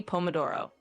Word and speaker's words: pomodoro: And the pronunciation is basically pomodoro.